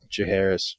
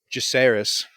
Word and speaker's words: Jacaerys: It's more so Damon and Jaharis, not Jaharis, Jacaerys.